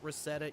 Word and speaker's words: Rosetta: win and yes folks I did check the pronunciation it is Rosetta Esports so if I ever